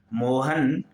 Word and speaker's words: मोहनः: वाक्य है मोहनः वदति, मोहन बोलता है। तो मोहनः में देखिए विसर्ग का प्रयोग है, तो उच्चारण कैसा हो रहा है? मोहनः, ना के बाद विसर्ग है तो उच्चारण होगा ह का, मोहनः वदति।